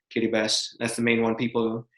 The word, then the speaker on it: Kiribati: that's still what is used today the word kitty best is actually the no local pronunciation of gilbert gilbert kitty bus because it was controlled by britain for many